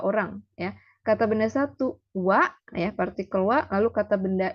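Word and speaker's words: は: dari huruf Hiragana ya partikel wa ini ditulisnya H tapi dibacanya wa ya ingat ditulisnya ha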